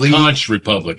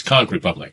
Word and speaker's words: Kunk Republic: Well, I've lived in Florida for a long time, so it's It's not con republic. It's con republic.